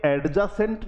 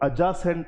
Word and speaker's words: adjacent: साथियों कभी भी डी के साथ जब जे आता है तो ये डी साइलेंट हो जाता है। जैसे आपने पढ़ा होगा एक वर्ड है ADJACENT, तो ये एडजासेंट नहीं होता है, ये अजासेंट होता है।